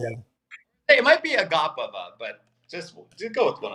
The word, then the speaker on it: Agapova: But give me Agavapa. Christian, how do you pronounce the name? Go ahead. Agapova. There you go. Yeah. Hey, it might be Agapova, but just go with one of those two.